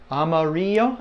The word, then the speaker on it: amarillo: but there it is Amarillo and remember the two L's make the Y sound as if you go